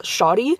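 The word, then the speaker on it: Sade: Her name is spelled, like, S-A-D-E, but the audiobook narrator, she's pronouncing it as Shadi, and she's starting her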